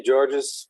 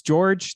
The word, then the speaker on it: Georges: Yeah, no, everybody says that it's just the French spelling and there is a silent S at the end.